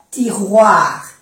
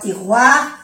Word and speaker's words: tiroirs: 3 tiroirs. No se pronuncia la S porque la S marca plural, ¿eh? 3 tiroirs et une porte.